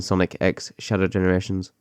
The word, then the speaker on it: Sonic X Shadow Generations: X Shadow Generation so the X is not silent correct correct yes so